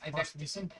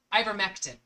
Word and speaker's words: ivermectin: It's ivectomycin. Oh, here it is. Ivermectin.